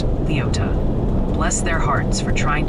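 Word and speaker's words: Leoti: Oh, and the Kansas delegation in chat is politely but firmly insisting Leote is pronounced Leota.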